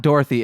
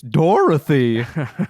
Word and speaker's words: Dorothy: No, it's not Dorothy. It's Dorothy. You gotta say the 3 syllables.